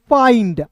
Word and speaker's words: find: एफ का दोस्तों फ, आई का उच्चारण आई के रूप में, एन है, ND रहेगा तो यहाँ पे आधा न और ड लिखेंगे, ऊपर बिंदी और ड। FIND फाइंड, आइंड, clear.